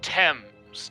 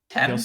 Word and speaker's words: Thames: The Thames, Dom. Is it pronounced Thames? It is yeah, actually yeah. Yeah, My bad. It's no worries. it does not look like it. It's not intuitive.